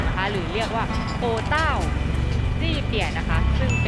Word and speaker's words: โอวต้าว: ได้ คะ ลิน สามี ต้อง อ่าน ออก เสียง ว่า โอ ต๊าว นะ คะ ทุก คน